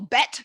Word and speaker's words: Bet: Bait rhymes with mate, which is not, grab my little bookie here, which is not because I'm watching Australian TV. It just rhymes with mate, bait and mate.